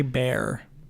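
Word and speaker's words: Baer: doesn't look good Larry bear b-a-e-r I assume that's pronounced Bear yeah so I don't know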